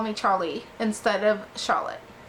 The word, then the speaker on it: Charlie: one to call me Charlie instead of Charlotte giving it a soft French note Charlie emphasis on both syllables it was rose of